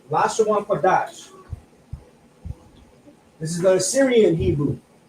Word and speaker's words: Lashawan Qadash: Again, we have a connector. This is alone. This is a 2. That's a qua, a da, and a sha. But we have a connector here that connects the da and the sha, which now is pronounced dash. So Lashawan Qadash.